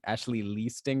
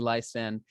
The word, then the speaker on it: Leiston: I always say Ashley Leiston because it rhymes, but it's not. It's Ashley Leiston.